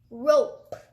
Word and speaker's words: rope: our next word is rope we're back to our vowels the E will make the O say its name and the E will be silent let's sound it out